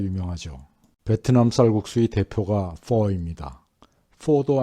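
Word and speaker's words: phở: 포도 아니고 퍼도 아니고 중간쯤 되는 발음이라고 해요. 성조가 있어서 이 정도로 읽는답니다.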